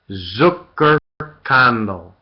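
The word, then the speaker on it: Zuckerkandl: Zucker condo just okay spell it z u c k e r k a n d l e Zucker candle there's nothing that's spelled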